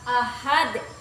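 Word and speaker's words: أحد: kemudian lagi pada kata ahad ini ini hukum tajwidnya Qalqalah Kubro karena ada Dal yang diwaakaf pada akhir kata cara membacanya itu dipanturkan keras seperti ini Ahad Nah dari penjelasan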